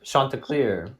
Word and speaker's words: Chanticleer: Chanticleer. It's French.